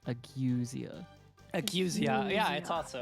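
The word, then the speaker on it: ageusia: It's actually pronounced agwesia.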